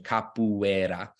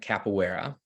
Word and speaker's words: capoeira: give you kind of more of the Brazilian Portuguese pronunciation if it's not sounds